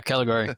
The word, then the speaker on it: Caligari: Is that how you pronounce it? Yeah. Caligari.